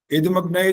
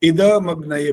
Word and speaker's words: इदमग्नये: जो दूसरा भाग था, तो इदमग्नये बोलना होता है, द भी पूरा बोलना होता है। अभी भी जल्दी हो रहा है। इदमग्नये इकट्ठा नहीं बोलना, इदमग्नये, इद द का साउंड पूरा निकालो, इदमग्नये।